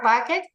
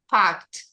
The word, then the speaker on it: packed: to check again the pronunciation of the Ed remember that this is not packet packed she has already packed